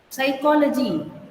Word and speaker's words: psychology: this first word, psychology, it is like psychology. The piece will become silent.